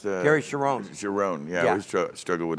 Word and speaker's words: Cherone: And the Gary, how do you pronounce Gary Cherone. Cherone, yeah.